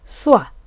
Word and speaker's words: soir: সন্ধ্যা, সন্ধ্যাকে ফসেতে বলে সোয়া। সোয়া কিভাবে বানান হলো এস এর সাথে ও ই এহ, তো ও ই মিলে কি হয় ওয়া, তাহলে এস এর সাথে ওয়া হলে সোয়া, এর উচ্চারণটা হয়ই না, তাহলে আমরা কি বললাম